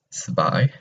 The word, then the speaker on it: zwei: So make sure you pronounce the W as a V, zwei.